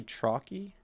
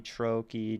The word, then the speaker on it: trochee: It goes stressed, unstressed. Let me look up the pronunciation. Trochee. Okay. A foot consisting of one long or stressed syllable, followed by one unstressed syllable.